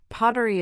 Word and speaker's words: pottery: For pronunciation, pottery is pronounced pottery, with stress on the first syllable.